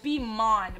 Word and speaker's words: Beeman: And we're gonna spell it Beeman, but it's pronounced Beeman, because that's how I say demon.